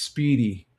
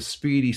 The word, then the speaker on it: Spiedie: Double J says, I always thought it was Speedy, same pronunciation. Yeah, pretty much. It's spelled Spiedie.